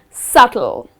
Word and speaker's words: subtle: Again here the letter B which comes in the middle of the word. You need to skip pronouncing that letter and the correct pronunciation of this word is Subtle.